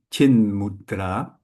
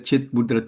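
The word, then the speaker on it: चिन्मुद्रा: some sand here um the t from chit in this case before a m from mudra becomes an And simple if you say chit mudra chit chitra it's it's not nice in your mouth so it's a lot more logical way to make chin mudra chin mudra mudra means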